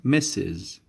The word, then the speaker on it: Mrs: woman who is unmerit how about mrs miss is messes we use this title before the name of a woman who is married all right so the opposite of mess is misses misses how about this one